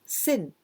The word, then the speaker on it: 戦: Well, it means 戦い when you all kind of fight or well, this is 戦い and also we can pronounce sen.